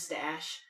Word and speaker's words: Stash: My name is Stash. It's spelled with an SH, so it's different. It is spelled with it's STH. STASH. STH. It's Stash. But the H is silent. It's just Stash.